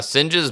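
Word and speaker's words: Synge: of it yeah uh sing's Playboy of the western world what's that first word I think it's pronounced sing it's a guy's name oh okay uh so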